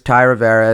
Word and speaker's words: Thai Rivera: my favorite platform right now my name is Ty Rivera it's spelled t-h-a-i-r-i-v-e-r-a which is also the same as